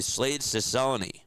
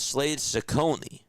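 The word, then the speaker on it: Slade Cecconi: the hill for them is going to be Slade Cone.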